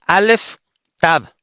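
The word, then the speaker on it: alef tav: Sería en el dice en el que se pronuncian alef tab. Okay. Entonces sería en el principio Dios Alex Tab creó los cielos y la tierra.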